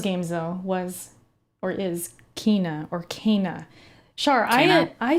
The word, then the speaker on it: Kena: So at first I said Kenna. I'm like, oh, that's Kenna. Then it makes sense. They didn't change it. They corrected it in like a video. They said how it's pronounced or whatever, and I thought it was Kina. So I finally got over the hump of like saying Kenna, and I'm like, oh, Kina, Kina.